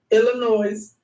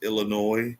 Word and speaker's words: Illinois: shout out toon Illinois this video and just so y'all understand Illinois is not pronounced Illinois please please black people use proper addiction the S is silent it's a Native American